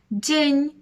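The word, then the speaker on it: dzień: це вже в нас буде конь так само день кінь креска над буквою н робить з нею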